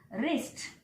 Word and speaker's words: wrist: For example, wrist. In case of wrist, W is silent.